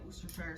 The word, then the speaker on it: Worcestershire: is a great source of salt okay um worcestershire sauce that's how you say it worcestershire sauce um ketchup mustard these are all sources